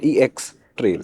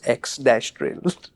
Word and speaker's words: X-Trail: So do they spell it X-Trail or EX-Trail? No, it's X-Trail. Because it sounds like EX already.